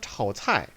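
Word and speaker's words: 炒菜: 근데 오답으로 된 거는 이성 사성입니다. 이성 그냥 쭉 올라갑니다. 차오, 차오차이, 차오차이, 차오차이. 삼성 사성 차오차이, 차오차이. 이성 사성 차오차이, 차오차이, 차오차이, 차오차이, 차오차이, 차오차이, 차오차이, 차오차이, 차오차이, 차오차이, 차오차이, 차오차이. 구별되시죠? 구별하셔야지 됩니다. 이거는 삼성 사성이니까 차오차이, 차오차이.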